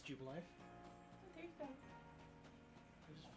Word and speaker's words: Jubilife: Jubileef, though. I know it's Jubilife.